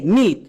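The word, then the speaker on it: milk: কিন্তু না। এখানে এল সাইলেন্ট হচ্ছে না। এর উচ্চারণ হচ্ছে এম আই এল কে। মিল্ক।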